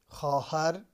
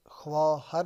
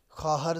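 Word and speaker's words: خواهر: پسر لڑکا یا بیٹا۔ خواہر، تلفظ خواہر نہیں بلکہ خواہر کرنا ہے۔ شوہر خاوند، خالہ خالہ،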